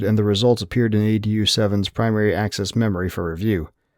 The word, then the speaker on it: ADU: "What's up, Adu?" The human, Janish, the one who was on watch at this time, pronounced it Adu instead of the proper pronunciation of ADU.